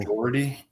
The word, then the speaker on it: Doherty: Doherty. How do you say it? Spell that. Spelled like Dough, DOUGH, ERTY.